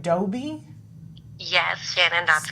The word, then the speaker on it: DOBE: of an organization, am I saying it right, DOBE? Yes, Shannon, that's correct. DOBE.